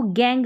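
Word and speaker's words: gang: यहाँ पर देखें, इसको गैंग, हमने इसको जैंग नहीं पढ़ा।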